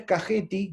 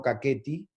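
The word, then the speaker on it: Kakheti: Esto es Cajeti, que se pronuncia así como le estoy diciendo, no Caqueti, y ese lugar es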